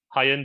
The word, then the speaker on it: Hyundai: say it over there high end I over here I've been told that it's supposed to be pronounced like the name of the day of the week Hyundai Sunday just ignore letters